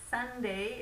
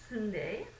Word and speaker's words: sundae: please be careful because sunday is pronounced like the day it's not pronounced sunday um and we can